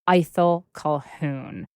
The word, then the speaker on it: Ithell Colquhoun: the painter and writer and many other things eel Calhoun and let's just clarify that is indeed how you think we should pronounce her name correct it is how we